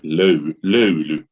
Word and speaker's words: löyly: It is löyly. Löyly. Yes, very well. It took me 5 years to learn to say ice cream in Hungarian. Fújolov. Löyly.